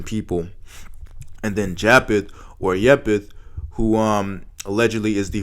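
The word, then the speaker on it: יפת: of all the name yepith as it's pronounced um in its origin in the original Hebrew language means opened not fair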